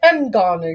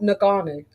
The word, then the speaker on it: Ngannou: Can you say Ngannou? Because that's how you pronounce it. It's not Ngannou.